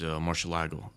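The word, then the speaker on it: Murciélago: So it's like Italian pronunciation. right. That's how you should say it, the Italian way.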